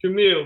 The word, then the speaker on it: Jermael: And then we have Jermael. Am I pronouncing that right? It's Jermael, but you're good.